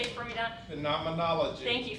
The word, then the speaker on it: phenomenology: We looked up how to pronounce it. Go ahead, can you say it for me, Don? Phenomenology. Thank you, phenomenology.